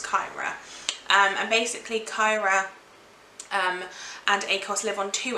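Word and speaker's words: Cyra: where this girl's from, they like hard sounds for words, so I'm guessing it's Kyra. And basically Kyra and Akos live on two opposing sides of the same planet, and they are basically opposites.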